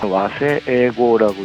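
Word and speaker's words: 和製英語: 이게 영어라고 쓰고 와세에고라고 읽습니다만은 일본에서 만들어 놓은 영어 단어들이 있습니다.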